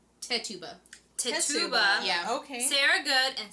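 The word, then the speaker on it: Tituba: sorry i looked it up last night it's tetuba yeah okay sarah good and sarah osborne okay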